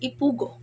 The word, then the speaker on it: Ipugo: Originally, the people called themselves Ipugo, stress in the last syllable, which is derived from Pugao, meaning earth world. Okay, so Ifugao called themselves as Ipugo, which is derived from Pugao, means the earth world.